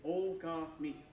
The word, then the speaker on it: Okami: Okami, which means wolf or great god, basically, is Okami.